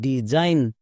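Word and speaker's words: design: একই রকম ভাবে ডিই D plus S আই জি N, Zain, ডিজাইন।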